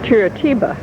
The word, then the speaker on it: Curitiba: Okay, I had a hard time pronouncing it, and it's Curitiba.